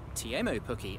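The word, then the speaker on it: Teemu Pukki: goal was scored by team ooh cookie or TMO cookie as he has just told me it should really be pronounced didn't finish but I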